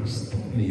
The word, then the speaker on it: Stanley: Il faut bien prononcer ça. Stanley, hein?